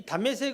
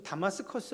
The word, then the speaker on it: 다메섹: 나라에 이제 수도 인데 이 다메섹 은 히브리 발음이 9 요즘 다마스커스 라고 이렇게 이제 부릅니다 예수님 당시의 니다